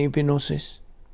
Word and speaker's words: epignosis: Remember gnosis and epignosis? Unsa man ning gnosis? Sa Bisaya, ang kahibalo ang gnosis. In English, knowledge. Apan ang epignosis, kung imo guni i-pronounce epignosis, pero silent G, so epignosis.